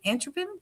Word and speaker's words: atropine: Is it ricin, atropine, cyanide, or strychnine?